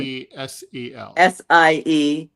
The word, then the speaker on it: Siesel: This is the way it's spelled as like Cecil, like Diesel, except with an S. It's German. Siesel.